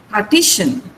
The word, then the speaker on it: partition: Partition. Let's say partition. The stress is on T. T. This is the syllable before shan. Now there are 3 syllables in this word. Pa, T, shan.